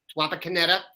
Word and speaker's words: Wapakoneta: places I can't pronounce yesterday Wapakoneta I believe that was accurate not pascala Wapakoneta very interesting quarterback duel